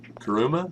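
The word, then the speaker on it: Kuruma: we are the uh Sultan and the kuma karuma yeah that's how you say it basically like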